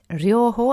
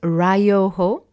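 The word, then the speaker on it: 療法: Ryoho and not Ryoho, because there's the Y, so Ryoho.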